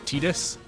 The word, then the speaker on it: Tidus: James Arnold Taylor did a video about it, talking about how they like instructed him that it was Tidus. It's related to a word that's pronounced Tida.